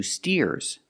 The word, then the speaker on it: steer: anymore these are two steers and the steers are helping the farmer steer with a long e sound like beer and clear steer let's practice what